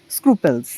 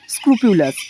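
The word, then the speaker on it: scrupulous: আর option ডিতে রয়েছে দেখো স্ক্রুপেলস, স্ক্রুপিউলাস, ঠিক আছে? উচ্চারণটা হচ্ছে স্ক্রুপিউলাস।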